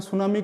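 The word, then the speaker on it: tsunami: सा वाला जैसे आपने सुनामी का पढ़ा होगा तो उसमें टी लिखा होता है और एस यू एम ए एन आई लिखा होता है तो टी साइलेंट होता है त सुनामी पढ़ते हैं पर उसको क्या बोलते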